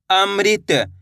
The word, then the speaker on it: अमृत: तो कैसे पढ़ेंगे मृ ऐसे नहीं पढ़ना मर। कैसे पढ़ेंगे मृत त मिलके बन जाएगा अमृत।